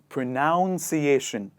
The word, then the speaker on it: pronunciation: last word they say pronunciation pronunciation but if you look closely in the bigger word there is none not noun and thus we write